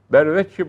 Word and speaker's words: berveç: Vecihten önce gelen bere yüzde milyon ber okunur. Bir ne zaman okunur? Şimdi ber edat üzerinde demek. Vecihten sonra le varsa ber vecihle olmaz. Bir vecihle olur o zaman. Bir şekilde. Vecih kelimesinden le la iki edatı gelirse bere bir okunur. Ama ek yoksa berveç.